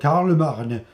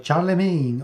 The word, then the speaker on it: Charlemagne: your host, and today I have with me Paladin, warriors of Charlemagne or Charlemagne or however you want to pronounce it.